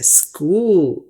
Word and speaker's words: school: हालांकि CH यहाँ पर के जैसी आवाज निकालते हैं, कूल, देखिए कूल, और S यहाँ पे स्कूल।